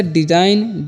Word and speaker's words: design: उसी तरह से डिजाइन, DESIGN, डिजाइन मीन्स क्या होता है, रचना, यहाँ पर भी जी साइलेंट है।